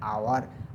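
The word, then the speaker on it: hour: है ही return after an आवर H silent है तो क्या है एन यूज कर रहे हैं जो कुछ हमने पढ़ा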